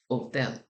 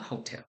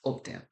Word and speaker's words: hotel: I don't know if you know this, but the H in Spanish is silent. So when you're in the Spanish-sp speakaking country and you say hotel, it's hotel. It is not hotel, it is hotel.